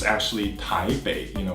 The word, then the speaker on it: Taipei: be Taipei it's actually tae Baek you know where the B is the P so it's just the